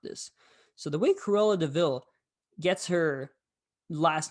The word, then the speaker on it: de Vil: It's called the Devil." And I'm like, "No, no, no, no, please no. I'm over here. Just I know what's gonna happen." Then Jasper says, "Oi, it's not a devil. It's pronounced Devil."